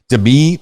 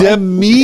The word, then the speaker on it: Demi: And I pronounced my name Demi. So Demi. Instead of Demi, it's Demi.